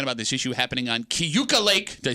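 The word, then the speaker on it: Keuka: this issue happening on Kuka Lake did I say it righta CAA Lake that's what I said no you add like an extra syllable in it kuk Kuka Lake I've always been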